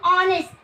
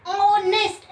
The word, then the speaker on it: honest: While we are using article before honest, you should take care that in honest h is silent. जो h की हमारी sound है that is silent, and honest it started from the sound of O.